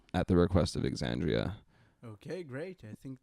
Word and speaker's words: Xandria: You It's pronounce the X, so it's Xandria.